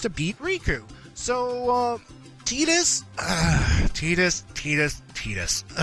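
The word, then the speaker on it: Tidus: there yeah see folks it's pronounced Titus not Titus Titus and yes we will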